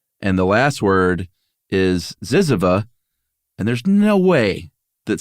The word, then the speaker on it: Zyzzyva: The OED colon A to zizzia. I'm sorry. Zyzzyva.